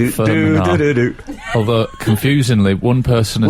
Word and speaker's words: Fermanagh: We've also had quite a few texts correcting my pronunciation of Firm Manor. Oh, yes. Firm Manor, not Firm Manor. What did you call it? Fermanagh? Fermanagh.